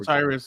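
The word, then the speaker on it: O'Cyrus: Osiris, yeah.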